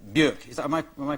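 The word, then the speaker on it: Björk: of a few basic things like the name burke is that am i pronouncing it quickly yeah yeah yeah but that's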